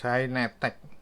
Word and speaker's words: Hynetech: Tapi tulisannya bukan Baseus, Hynetech. Hynetech ya. Hynetech, jangan keliru bacanya ya.